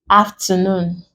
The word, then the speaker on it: afternoon: Another example, we have afternoon. We break it, and since we are stressing on the last syllable, this becomes capital letters.